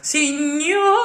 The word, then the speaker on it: signor: Perché, signor. Be there already. Bravissima. You do the exact same thing without phonetically opening the O of signor. Aim to the ideal schwa after the rolled R.